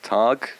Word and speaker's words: Taage: name is my artist name is targ uh people always ask me how to pronounce that but that's how i pronounce it myself um and yeah i'm